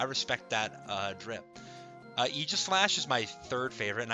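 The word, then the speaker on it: Aegislash: I always say Eegislash. Um, Eegis, like the shield from Greek mythology. Uh, also because I'm a big Xenolade fan, of course. Um, but uh, some of you will say Aegis Slash and like, all right, that's fine. You can pronounce it that way, but I'm going to pronounce it Eislash.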